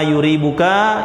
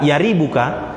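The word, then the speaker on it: يريبك: apa yang meragukanmu Ah di sini boleh ya dengan memfathahkan huruf ya dan boleh juga mendomahkannya jadi boleh D Ma yuribuka Il yuribuka dan juga boleh bacanya Dama yaribuka Il Ma la yaribuka ya Wal Fathu afsohu wa asharu dan memfathahkan huruf ya yaribuka bacaan dengan yaribuka itu lebih fasih ya dan lebih masyhur kalangan para ulama dan maknanya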